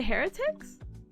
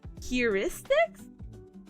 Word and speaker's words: heuristics: on Google how to say this is a Heretics heuristics heuristics heuristics heuristics okay so we have heris here